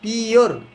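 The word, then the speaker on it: pure: you have পিওর পিওর এটাকে আবার পুরি বলো না পি ইউ পু আর ই ডি পুরি পুরি বলা যাবে না কি বলতে হবে পিওর পিওর drinking drinking D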